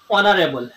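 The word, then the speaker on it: honourable: Honest ঠিক অনারেবল অনারেবল। এই silent আছে যে শব্দ প্রথমতে সাইলেন্ট এ থাকি আর্টিকল ব্যবহার করা হয়।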